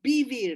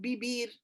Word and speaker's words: vivir: However, in Ladino, you differentiate between the B and the V. So it's balón, but it's viejo. Viejo is old. So vivir is the word for to live. So vivir, not vivir, not bibir, vivir.